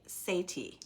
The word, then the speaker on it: Sethi: week but last week they had on R Sati yep I said it right you said it